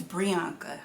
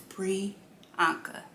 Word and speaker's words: Brianca: and i'm like okay so my name is brianka i'm gonna put it down at the bottom i'm gonna spell it out for you guys it's pre anka and just think of it like this brianna bianca put it together priyanka i don't know what